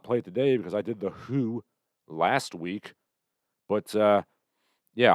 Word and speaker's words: The Hu: the gentleman of mongolia the who which i've discovered is in fact the proper pronunciation they have released a